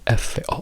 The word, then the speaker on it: for: originale, quindi il suono, la strong fo di f o r sarebbe fo con una o.